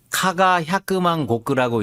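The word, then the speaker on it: 加賀百万石: 카가 야끄만 고크라고 읽는데 이시카와 현을 옛날 이름으로 카가 야끄만 고크라고 불렀어요.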